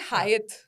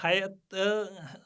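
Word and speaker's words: Hyatt: एक और बहुत मिस प्रोनाउंस्ड है हायत ठीक है सब उसे हयात हयात होटल बुलाते हैं। इट्स एक्चुअली हयात एंड ये भी लोगों को नहीं पता है।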